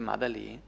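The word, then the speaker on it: 马德里: Ellos hablan de Madrid Madrid en chino se dice madelly y comúnmente coloquialmente lo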